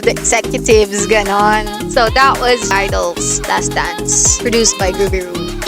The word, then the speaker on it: (G)I-DLE: has 2 parenthesis and you don't pronounce it as GEE-I-DLE, it's I-DLE and in korean it's yeoja aideul IDLE has released a lot of bop songs, but..